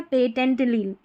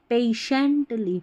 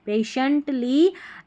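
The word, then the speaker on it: patiently: पेटेंटली नहीं पढ़ेंगे।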